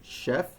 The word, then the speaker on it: chef: as sugar, sure, while other words that are written with CH are pronounced sh, as in chef or Chicago.